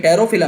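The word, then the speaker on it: Pterophyllum: भाई P silent है ना इसमें, टेरोफिलम है, तो टेरोफाइलम है तो तेरा का साउंड आएगा ना इसमें।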